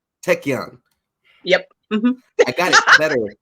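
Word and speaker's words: Taekkyeon: Is there any kind of upper limits, I guess, of can you pronounce it again for me? Taekwon? Taekyon.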